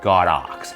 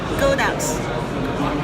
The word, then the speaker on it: Godox: To me, it's still Godox because the Chinese character that they use for their company name has the word God and Ox. That's why I say Godox.